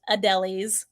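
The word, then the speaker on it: Adélie: Adelis up here yeah it's pronounced Adelis like going to a deli to get a sandwich um so if I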